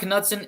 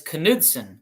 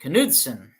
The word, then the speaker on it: Knudsen: I would never in a million years, if I saw that name for the first time, think that K was actually pronounced.